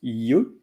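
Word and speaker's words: yeux: then uh Le and it's Yu pronounced Yu y uux but as the article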